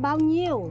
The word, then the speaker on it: bao nhiêu: Oh, bao nhiêu? Bao nhiêu? Not n. Yeah. Not n. How do you say it? N and h together.